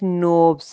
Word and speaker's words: knobs: KNOBS नोब्स, यहाँ पे भी के साइलेंट है, मतलब के पढ़ने में नहीं आएगा।